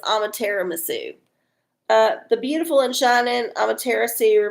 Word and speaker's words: Amaterasu: Sorry, I totally just mispronounced. Amaterasu. It's like tiramisu, but it's Amaterasu.